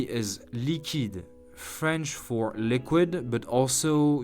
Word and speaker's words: liquide: Let's pronounce this beautiful name together. Jacqueline. Jacqueline. Jacqueline. Number 3 is liquide, French for liquid, but also used to mean cash.